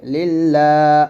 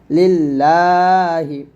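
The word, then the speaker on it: لِلَّهِ: লিল লাম একটান হবে লিল্লাহ হাজেরিহ লিল্লাহি আল্লাহ শব্দ লামের ডানে জের আসলে আল্লাহ শব্দ লাম পাতল হয় তাহলে তাহলে একসাথে বলবো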